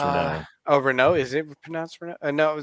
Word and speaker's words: Renault: is it uh Renault it's pronounced Ren oh Rena is it for